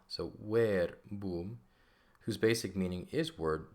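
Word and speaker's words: verbum: it's it is but we pronounce it as W so where boom whose basic meaning is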